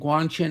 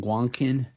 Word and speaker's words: Guanqin: I really like it this is the second Guang chin on my channel one of my viewers pointed out that I was pronouncing it wrong originally because I was saying guanin I am notoriously bad at pronouncing words I've